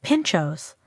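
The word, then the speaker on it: pintxos: Pimpos pronounced pinchos literally means spike, a reference to the skewer or toothpick used to secure the delicious toppings to a slice of bread.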